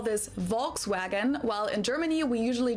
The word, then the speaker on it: Volkswagen: So W is a V and a V is a foul. Okay. Because the V in German sounds like a F and the W sounds like a V, right? Volkswagen. I would say it that way.